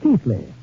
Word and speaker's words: Keighley: century, not far from my ancestral town of Keighley, well, pronounced in England, Keithley. Although how they made Keithley out of K-E-I-G-H-L-E-Y, I'll never know.